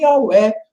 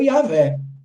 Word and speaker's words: Yahweh: Mas a pronúncia mais correta do nome de Deus, bendito seja o seu nome, Yahweh ou Yahvé.